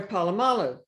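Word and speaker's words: Polamalu: it was with Patrick Mahomes and um Troy palalo is that how you say his name yes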